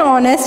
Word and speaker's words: honest: क्या एक्सेप्शन है, इसमें है कि the consonant h at the beginning of our and honest is silent, so we use an our and an honest man।